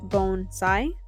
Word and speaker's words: bonsai: So the pronunciation is bonsai, like the body, B-O-N-E, and sai, S-I-G-H.